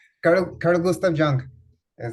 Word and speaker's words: Jung: el señor Carl Guth, y que mi es pronunciación. Jung.